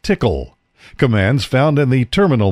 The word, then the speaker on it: TCL: hxp hexapod is the ability to issue TCL pronounced tickle commands found in the terminal mode TCL is